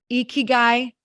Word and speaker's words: ikigai: Have you guys ever heard of, it's pronounced Ikigai?